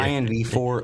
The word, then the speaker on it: InvArch: I've been calling it InvArch just for the sake of pronunciation, because some people might struggle. Okay. It's a little easier. InvArch, OSIF, and XEA.